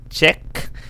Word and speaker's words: Czech: Hindi ko sure kung tama yung pag-pronounce ko ng Czech. Czech.